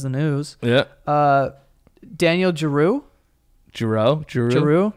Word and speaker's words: Giroux: Giroux. It's spelled like Matt, like G-I-R-O-U-X.